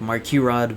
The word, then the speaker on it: MARKERAD: I go on the collection is known as mark rod or mark you rod like the actual pronunciation is like mark you rod but obviously that's difficult to pronounce I don't